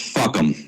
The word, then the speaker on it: FUCAM: The name of my petition is the Fully Uncensored Communications at Meetings petition, and the acronym is FUCAM, and is pronounced fuck 'em.